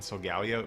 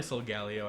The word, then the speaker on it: Solgaleo: Probably Solgaleo, I think. I feel like that sounds the best to me. I could just be biased because that's how I've been saying it. But yeah, I think that just makes more sense. Solgaleo, Leo. Leo is than that, so that's probably what it is.